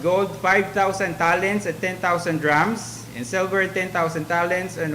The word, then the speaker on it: dram: So now there's a measurement also called drams. Okay. So it's not the drum that we knew in the present time, like it's a huge drum where oil is, contains oil, 1 drum. Dram, D-R-A-M.